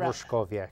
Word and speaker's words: Roszkowiak: say his name, and he wrote it down phonetically for me. It's Sergeant Roszkowiak. It's Roszkowiak, that's correct.